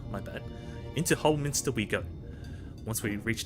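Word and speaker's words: Holminster: into the whole Min Min not Minister it's whole Minster my bad into whole Minster we go once we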